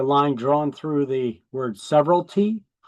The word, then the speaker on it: severalty: So you can see I got the line drawn through the word severalty. It's pronounced severalty, like several, severalty.